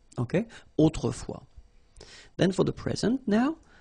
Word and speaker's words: autrefois: Okay, autrefois, so A-U, autrefois, final S not pronounced. Okay, autrefois.